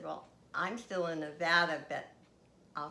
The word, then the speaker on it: Nevada: And by the way, people who live in Nevada, it's not Nevada. Actually, people who live in Nevada hate when other people pronounce it Nevada, because it is Nevada.